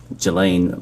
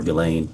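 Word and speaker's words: Ghislaine: that in 2024 uh Gelain Maxwell or Gilain I think is how it's pronounced arranged and wired $1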